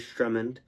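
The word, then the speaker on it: Sturmhond: So I pronounced that as Strummond.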